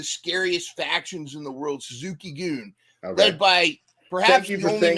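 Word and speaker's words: Suzuki-gun: factions in the world Suzuki goon led by perhaps correctly what's that thank you for saying it correctly yeah some people say Suzuki gun Suzuki goon I'm trying to say it that way and it's led by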